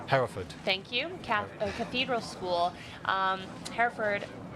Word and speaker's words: Hereford: Hereford Did I say that right? Hereford, you said it right, yep.